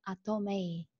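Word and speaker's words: Atomy: В Китае они говорят Атомэй, произносят название нашей компании Атомэй, потому что это так как, то, как называется этот иероглиф, он обозначает красота, и наш бизнес основан, да, на красоте душевной и внешней.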